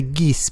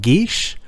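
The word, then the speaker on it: geis: but in reality geez is an irish word pronounced gish and is not so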